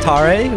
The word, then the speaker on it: Tare: It's pronounced Tare, with an emphasis on the first part.